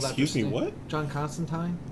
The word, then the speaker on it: Constantine: John Constantine? Constantine. No, Tyne. That's how the Brits say it.